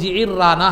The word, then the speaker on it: جعرانہ: ہے آج، مسجد جعرانہ مختلف اس کا تلفظ ہے، لیکن صحیح تلفظ جعرانہ ہے، جو ہے نا عین کے زیر کے ساتھ اور را کی تشدید کے ساتھ۔ تو وہ وہاں مال